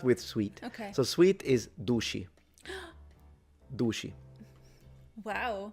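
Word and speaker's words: duci: But the c in the palemo area is usually pronounced with a shh sound when it's followed by a vowel.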